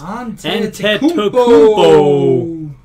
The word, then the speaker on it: Antetokounmpo: It's Antetokounmpo.